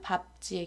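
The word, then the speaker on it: 밟지: 이런 식으로 발음하는 거고요 하지만 밥지의 경우는 ㄹ을 탈락시켜서 밥지라고 발음합니다 밥지 밟고 밥개 다음으로 히읗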